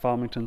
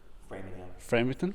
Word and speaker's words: Framingham: Before BCU, you taught at Farmington State University. Framingham? Everybody does that. I don't know how to say it. I know, framing, like Framing. to frame something.